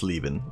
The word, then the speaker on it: Leavin: Oh, so your IRL name is Leavin, pronounced as Leavin. Like, I'm leaving on a jet plane.